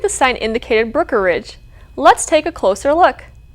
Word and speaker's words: Brookeridge: look at the word, it looks like it's easy to say. It's hard to say with the E in there, but it's Brookeridge.